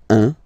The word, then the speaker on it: un: Okay, then un. All right, so when you combine this u and n, you get the nasal sound un, un.